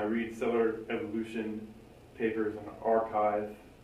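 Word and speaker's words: arXiv: cellular evolution papers on archive which is spelled a a-r-x-i-v and i read a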